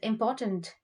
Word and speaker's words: important: So the word for very is très, and important is it's spelled the same way, but the pronunciation is important.